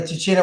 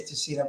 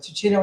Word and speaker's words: Tuccino: Tuccino would be the Italian way to pronounce it. In America, very often we say Tuccino, but Tuccino is the actual correct pronunciation.